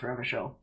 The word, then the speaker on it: Revachol: It actually says Revachol is pronounced Revachol.